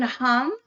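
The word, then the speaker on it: hūṃ: That's actually, so you can say hum. Yep. And that M, that vibrating M in your chest cavity, man, that'll set you up.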